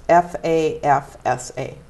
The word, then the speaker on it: FAFSA: It's FAFSA, FAFSA.